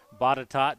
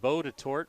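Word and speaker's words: Botetourt: the four fields that bottatot just up the road and i know it looks like bow to torque but it's definitely pronounced botticott as i've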